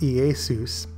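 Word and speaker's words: Ἰησοῦς: appeared in the Greek and would have been pronounced EA Seuss it is fascinating to note in the outline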